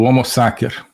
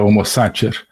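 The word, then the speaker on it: homo sacer: agamben que é o homo saker né homos saker uso aqui a pronúncia restaurada do latim né a pronúncia eh eclesiástica seria homo Sater né mas o homos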